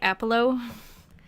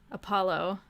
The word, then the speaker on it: Apollo: I've always pronounced it like apology. Apollo? How did I say it the first time? Apollo. Oh yeah, I put emphasis on the po, don't I? Apollo.